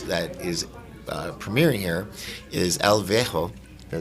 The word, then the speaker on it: El Viejo: One of the amazing films that is premiering here is El Viejo.